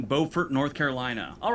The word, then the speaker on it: Beaufort: Number 7, Beaufort, North Carolina. All right, folks, let's talk about Beaufort. And it is Beaufort. Beaufort? Are you serious? I was thinking like Beaufort because beautiful. But here Beaufort.